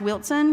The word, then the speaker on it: Wilson: stuff for Wilson County that's pronounced Wilson with a tea there is no tea but coming to the